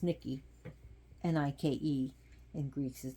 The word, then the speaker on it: Nike: want to know more about Nike which is pronounced Nikki and I in Greece is Nikki is the